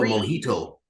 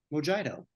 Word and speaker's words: mojito: Have a mojito. This book. Or a mojito. Or a what? Mojito. No. That's how tourists pronounce it. Not that. Then why would it be a J?